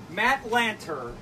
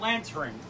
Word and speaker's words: Lanter: than Anakin Skywalker himself matt Lanter matt Lanter not not Lance ring well and it's not